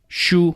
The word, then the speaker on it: 输: 输. Like book. Same pronunciation.